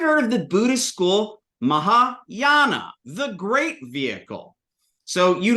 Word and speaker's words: Mahayana: in there right now ma maa ma now that's a long a Aon Mahayana the greater vehicle uh